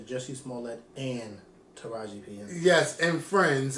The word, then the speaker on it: Jussie Smollett: we got those two jessie smalley you didn't say it right though you should say jesse smallett and taraji yes and